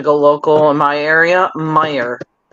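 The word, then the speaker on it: Meijer: I'm going to go local in my area Meer m e i j e r Meer I will uh say wind Dixie um another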